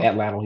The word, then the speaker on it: Atlatl: Atlatl, yeah. I'm about to say, bro, like you paused, like I said it I wrong. said I'm like, a lotto. Like, no, I was trying, that's Atlatl.